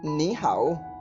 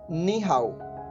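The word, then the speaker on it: 你好: एंड ई परिचय ओड इसको खोला जाएगा नी हाय नी हाय कि निहारू जिसका अर्थ होता है हेलो हिंदी में बोलते हैं नमस्ते तो चाइनीस में बोला जाता है नीहाउ ओके आज का हमारा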